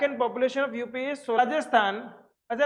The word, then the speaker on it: राजस्थान: Population of राजस्थान is equal to 570 lakh and population of यूपी इज राजस्थान। अच्छा, राजस्थान को मेरे कुछ दोस्त राजस्थान नहीं बोलते, पता है, और राजस्थान बोलते हैं, जे साइलेंट होता है।